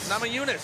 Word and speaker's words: Namajunas: How do we pronounce that one? Namajunas? Namajunas.